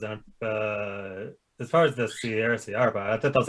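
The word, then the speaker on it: Saria: Soraya. Soraya? You mean Sierra? Oh, is that okay? I've been saying it wrong the whole time.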